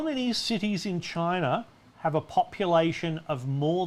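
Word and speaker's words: Qin: chronic jim campbell says best to pronounce it as the chin all right i'll look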